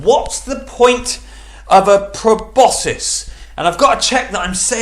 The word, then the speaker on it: proboscis: on my phone to check that i'm putting pronouncing it correctly let's just check proboscis proboscis yes i am uh welcome this week's theme